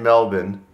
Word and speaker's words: Melbourne: Well, this is our last night in Melbourne.